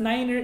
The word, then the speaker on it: niner: Oo, pero yung nagpo-pronounce lang ng 9 as niner is in aviation.